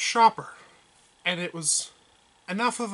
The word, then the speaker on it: Schaper: today we're going to be looking at some shaper games except they're not really shaper games it's actually pronounced shopper and it was enough of a problem for